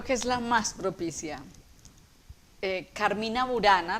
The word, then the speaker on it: Carmina: es la más propicia carmina burana realmente deberíamos pronunciar carmina carmina burana porque carmín es canto y no es una palabra latinizada y burana de vio